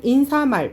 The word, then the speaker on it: 인사말: 인사말 같은 경우에는 인사말 발음을 해보면 인싸말이 아니지. 네.